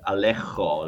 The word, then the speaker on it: Alejo: It sounds so Spanish, like from Madrid, Alejo, like that J sound.